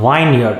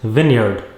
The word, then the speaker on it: vineyard: watching a video right now it is not vineyard it is vineyard california has lot of vineyards it is not